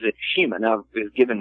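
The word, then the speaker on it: CIMA: that he pronounces it Shima. Now, his given name is Shima Nobunaga, and that's where he gets it from. But based on the spelling, which is C-I-M-A, you might think of it as Sima, as I did for quite a few years.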